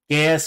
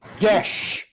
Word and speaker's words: geis: You know all the pronunciations we've been throwing around? Gaius, Gaius, and Geis? They've all been wrong. Because fuck Gaelic. Fair. How is it pronounced? Gesh.